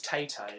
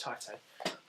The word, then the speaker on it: Taito: I used to think it was Tato, but I'm sure it's Taito.